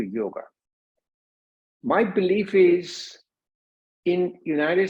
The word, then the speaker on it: yoga: bring it the yolk the word yoga is an anglicized version of the main Sanskrit word called yog it was primarily that the Europeans the Europeans have a hard time pronouncing yolks so they put it on a after that converting to yoga my belief is in